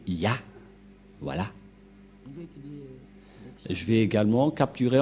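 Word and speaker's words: יה: La prononciation de ce terme est ceci, c'est Ya.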